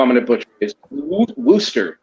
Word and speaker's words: Worcester: Wooster. Did I say it right? Wooster? Yeah. No. It's Worcester. Worcester.